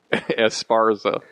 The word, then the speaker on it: Esparza: Esparza.